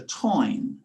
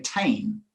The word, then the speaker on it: Táin: And then I came across an Irish poet, Kinsella, who's did a version of the Táin. Again, Irish pronunciation Táin. In English, we would say Tain.